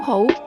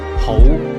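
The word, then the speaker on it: 好: Whole. This is pronounced with a rising tone.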